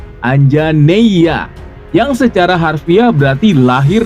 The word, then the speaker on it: Anjaneya: sebagai Putra Anjani Hanoman dipanggil anjaneya diucapkan anjaneya yang secara harfiah berarti